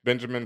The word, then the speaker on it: Benjamin: DJ Ben Hamin um his last name is not H so all one word it's just Benjamin in Spanish it's Benjamin phonetically Ben H for those who didn't